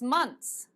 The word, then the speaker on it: months: students is months months if it's difficult for you to say months because your tongue goes behind your tea say it like this months months don't write it like that I will be not a happy Teacher don't write this but for pronunciation just say months no one can hear the difference it's actually months but don't worry so these are words